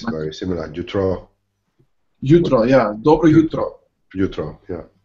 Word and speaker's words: jutro: Good morning, dobro jutro. Dobro jutro. Dobre jutro. Oh, so difficult. And the J is pronounced like a Y in English.